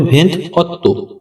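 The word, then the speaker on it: ventotto: 27 তারপরে রয়েছে 28 28 এর ইতালিয়ান উচ্চারণ ভেন্থ অত্য ভেন্থ অত্য বন্ধুরা এখানে বানানে একটু ভুল আছে বাংলা উচ্চারণটা একটু বুঝে নেবেন এটা হবে ভেন্ত অত্য পরবর্তী শব্দ 29 29 এর ইতালিয়ান উচ্চারণ ভেন্তি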